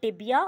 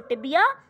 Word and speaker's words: tibia: ticket cricket maybe um so tibia all right or it is rhyming with dibia all right and this